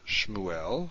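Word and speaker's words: שמואל: Now we know this is vocal because it's at the beginning of a word, so therefore it's at the beginning of a syllable. And according to our base rule, our rule number one on distinguishing shavas, silent and vocal, we know that a shava at the beginning of a syllable is vocal.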